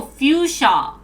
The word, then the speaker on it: Fuchsia: applications for android ios linux mac windows google fusia how do you pronounce this um and the web from the single code base only because i read the latest injury release oh foosha oh fuchsia what is google review show um first subscribed